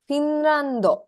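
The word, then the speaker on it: フィンランド: Finrando.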